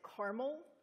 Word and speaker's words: Carmel: a town in Indiana which you probably want to pronounce from the name of the sign Carmel they pronounce it caramel it's kind of hard hard to do but caramel it's a town of